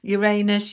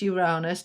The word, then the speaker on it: Uranus: Yeah, I did a video about Uranus and several of you went, "It's not Uranus, it's Uranus." That's the American pronunciation. The British pronunciation is Uranus and I'm British, so actually I was correct.